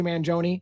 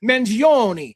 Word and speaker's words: Mangione: You disrespectful piece of It's Manzione. Say it right. It's Manzione. And so I say it right and someone's like, "You're an idiot." Like his lawyer literally says Manzione.